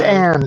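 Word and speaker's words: Ayn: Aaron Rond had I don't know how to say it. Aaron Rond. It's Ann.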